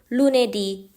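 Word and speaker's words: lunedì: พูด ว่า โดเมนica domนica จำ ไว้ นะ คะ 5 วัน แรก เสียง เน้น ท้าย คำ เช่น ลูเนดี มารตเตดี เมโคเลดี เป็น ต้น ค่ะ คำ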